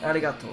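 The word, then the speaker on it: ありがとう: like an l so it sounds like aligato arigato aligato and then like gozaimasu because i must it's pronounced like jose no arigato is or arigato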